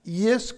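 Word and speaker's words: Ἰησοῦς: 우리는 예수라고 읽지만 헬라어로는 이예수입니다. 이예수 크리스토스입니다.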